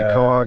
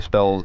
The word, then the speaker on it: Quahog: Quahog. It's spelled nothing like it sounds. Looks like quahog.